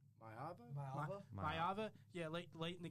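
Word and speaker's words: Maiava: USC quarterback Mayava.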